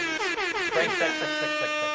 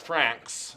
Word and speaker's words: Franxx: Frank, sex. Yeah, and, Yes. and it's more like Franks, but it's pronounced Franks.